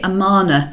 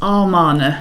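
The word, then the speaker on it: Amarna: mink alright yes um the one that people really fall down is actually the name of the city amana yes many many people think it's our mana yeah a-r-m and it's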